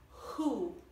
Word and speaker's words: who: Who? Chi? Who? È molto aspirata.